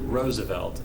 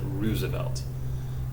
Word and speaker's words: Roosevelt: that family pronounces it roosevelt and one of the branches of the family pronounces it roosevelt i think teddy was roosevelt i think fdr is roosevelt it's not a big